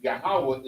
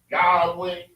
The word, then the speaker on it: Yahawah: it right grammar right but the pronunciation Yahawah is never They say Yahwh Yahweh I can never understand because that means you would have silent letters. That's right. If this says Yahweh that means you got a silent letter there. You understand?